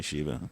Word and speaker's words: Shiva: destroyed it I'm worldly it's actually pronounced Shiva by the way for the god oh okay for me she would just call me Shiva because I'm not the God yeah so